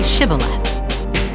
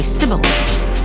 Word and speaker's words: Shibboleth: If the man said, "No, I'm not," they would tell him to say Shibboleth. If he was from Ephraim, he would say Sibboleth, because people from Ephraim cannot pronounce the word correctly.